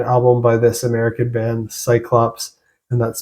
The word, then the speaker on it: Psyclops: Next, I want to talk about Cyclops and their album Bound to Burn Melody of the Martyr.